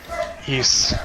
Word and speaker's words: Ys: ship is the new east game or ys i don't know how other people pronounce it but that's how i pronounce it i don't know